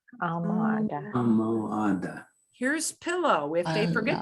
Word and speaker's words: almohada: Here's an H that's hard because it's sneaky, sitting in the middle of the word. So we're going to pronounce the O, we're going to pronounce the U, we're going to pronounce the O, and we're going to pronounce the A.